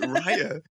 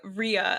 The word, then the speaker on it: Rhea: But yeah, Raya like rye bread is what I always.